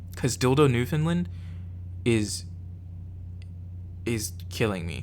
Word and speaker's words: Dildo: as funny as as dildo since it is dildo like there's no difference it's dildo these other ones are more like these are